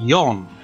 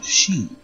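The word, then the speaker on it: 四: right you know Japanese you got yon as you know that's four but it can also be said as she which is death as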